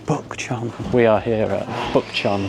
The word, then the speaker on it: Bukchon: How do you pronounce this place again? Bukchon. Bukchon. I think it's Bukchon. Does it not start with a B? Oh, Bukchon.